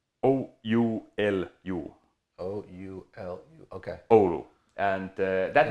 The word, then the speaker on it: Oulu: part of the Finland in a city called Oulu. And by the way, our company's headquarters and the assembly line and factory is still there. So how do you spell that city? Oulu. Oulu. O-U-L-U.